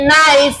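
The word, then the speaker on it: knife: K N I F E নাইফ।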